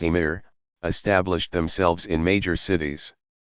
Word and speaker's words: Amir: Iberian Peninsula Muslim Prince's called Amir's literally commanders pronounced a meter established themselves in major cities in 750 the